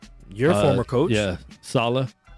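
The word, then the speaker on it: Saleh: and for the jets they have a new new coach there you're a former coach yeah salah so that's how you say it i've been saying soleil for you yeah so sal is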